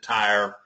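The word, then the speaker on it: Tyre: in modern-day uh lebanon you may pronounce it tire i don't know it's uh uh i thought it was tire for many years until uh uh one of my friends uh was uh he he went up there and uh that's the way he said that they pronounced it up there in the in the ruins or the city around the ruins of tyr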